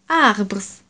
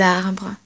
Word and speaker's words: arbres: Of course, in English we say trees, but in French we don't say arbres or whatever. Arbre. Compare. Arbre. Un arbre. There is only one tree here with arbre. Des arbres. Their pronunciation is exactly the same.